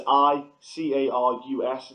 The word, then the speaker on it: Icarus: But also, I tweeted this out there, and Jack Mason said, watch Icarus, I'm not sure how the pronunciation is. It's Icarus.